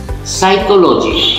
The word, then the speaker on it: psychology: Psychology. P-S-Y-C-H-O-L-O-G-Y. Psychology. Whenever you say psychology, we have to stop speaking the word P.